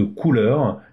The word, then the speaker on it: Kuler: Et vous allez voir que c'est comme ça que je le retrouve, parce que Couleur, K-U-L-E-R, se prononce en couleur, c'est pour moi beaucoup plus facile.